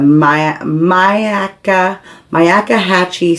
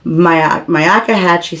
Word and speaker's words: Myakkahatchee: he was going to go hiking in the Myakkahatchee State Park. That's how you say it. Myakkahatchee State Park on Tuesday, this past Tuesday.